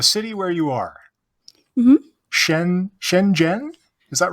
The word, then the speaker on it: Shenzhen: Okay, so the city where you are, hmm Shenzhen, is that right? Yeah, you pronounced it.